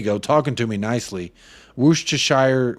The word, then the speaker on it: Worcestershire: talking to me nicely Worcestershire whoosh Church Shire sauce is the correct pronunciation yeah glad we got